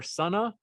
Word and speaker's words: Sunnah: Is it Sunnah or Sunnah? Sunnah. It's Sunnah.